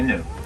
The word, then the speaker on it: gnu: No, it's actually new. Yeah, it's spelled GNU.